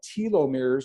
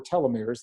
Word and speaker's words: telomeres: They're called telomeres or telomeres. I've heard them pronounced both ways.